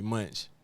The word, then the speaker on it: Mvnch: Well it's it's pronounced a lot of people just call me Munchch. You know, for a lot of they just say it, but say Munch.